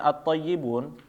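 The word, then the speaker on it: الطيبون: Nah, alif lam tadi seperti misalnya at-thayyibun, dia pasti a awalnya ya, Bapak, bukan i atau bukan u ya.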